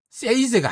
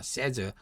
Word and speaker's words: says: Price is a high 오케이 그다음에 세이즈가 아니죠. 세이즈가 아닙니다. 세이즈로 바람하는 신 분들이 많은데 세즈입니다. 세즈 s가 없을 때는 세이 요렇게 바람하지만 s가 있을 때는 뭡니까? says 렇게 발음한다. 그리고 뭡니까?